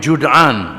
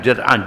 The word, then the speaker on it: Jud'an: Baginda juga melihat peristiwa perjanjian Al-Fudul yang dimeteraikan di rumah Abdullah bin Jud'an, bukan Jad'an, Jud'an, oleh kabilah-kabilah Quraisy dari Bani